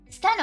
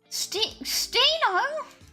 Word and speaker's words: Stheno: Steno. I feel like I don't know how you pronounce that. I feel like it's steno. I feel like the H is silent.